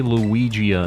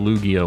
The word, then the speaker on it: Lugia: I feel like that's not the way I would say it, but I used to say Luigia instead of Lugia when I was a kid, so I guess